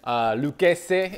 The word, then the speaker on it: Lucchese: In this box, I know it, people pronounce it Lucchese, especially down south in Texas. They call it Lucchese. Lucchese is the pronunciation. Il parlo italiano è pronunciato Lucchese. Capisci?